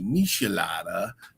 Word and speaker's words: michelada: Um, there's several that pronounce it miculada and then there's some they say Mitchelada and Andrea says you got to say Mishelada and I'm like I have no idea what you're talking about.